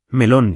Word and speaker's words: melón: Pronunciar bien cambia todo: melón lleva acento en lón, y limón igual, limón.